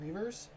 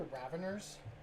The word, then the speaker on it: Raveners: I keep saying Reavers. I think it I think they're raveners. That's how it's pronounced.